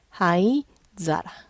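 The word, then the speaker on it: 灰皿: 훈독 사라만 있어요 그래서 하이 사라 발음이 조금 애매하니까 하이자라 재떨이 아시는 분도 있을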